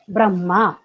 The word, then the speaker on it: ब्रह्मा: करते हैं ब्रह्मा ब्रह्मा तो ब्र आधा ब र फिर ह ह हलंत है ब्रह्मा ऐसा उसमें ह की ध्वनि आनी चाहिए ब्रह्म ब्रह्म में लोग कई